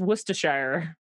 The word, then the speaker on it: Worcestershire: werster message room donor but the sauce is Worcestershire thank you and the chat is helping me with my pronunciation it's very weird I only know in